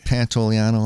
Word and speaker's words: Pantoliano: um is that was good that you said pantoliano like that very good because there were a